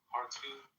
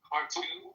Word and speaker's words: Khartoum: of the site in the vicinity of the Khartoum airport. I don't know if that's... Say the name of the airport one more time. Khartoum? It's in Khartoum. Khartoum? Oh, the ancient city of Khartoum. Kartum, I think.